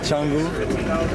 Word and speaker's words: Changu: Can you pronounce the name of the island so I can get it right? Is it Changu? Yes, Changu Island. Changu Island.